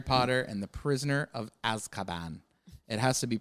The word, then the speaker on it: Azkaban: Is a little movie called Harry Potter and the Prisoner of Azkaban. It has to be pronounced that way.